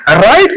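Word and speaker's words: write: हैं डायग्राम कहते हैं डब्ल्यू आर आई टी ई राइट को अगर आप चेक कर ले तो डब्ल्यू आर जो है सिर्फ अरा वाला साउंड जो प्रोनाउंस करता है।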